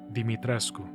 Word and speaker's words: Dimitrescu: Apparently you're supposed to pronounce it Dimitrescu.